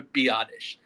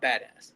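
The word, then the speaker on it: Biadasz: Tyler Biottish. I was have I was saying badass so much on last episode. It's Tyler Biottish. the center. That is his name. It's Tyler Biadish. Not badass.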